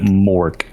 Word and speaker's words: Mark: legal name all right technically his name is Mark but like now I'm just his name is Mark but he pronounces it Mork because okay Nico pronounces